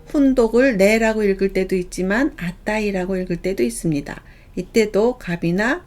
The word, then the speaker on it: 値: 훈독은 네 또는 아따이입니다. 네 하면 가격을 나타내고요. 네우찌는 가격 또는 값어치를 나타냅니다. 내당은 가격입니다. 똑같이 갑치자를 써서 훈독을 네라고 읽을 때도 있지만 아따이라고 읽을 때도 있습니다.